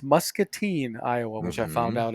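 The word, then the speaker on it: Muscatine: to um Iowa last week I was in pronounced mustine Iowa which I found out as I got there but muskel no not muskel not Mustin Musketeers three muske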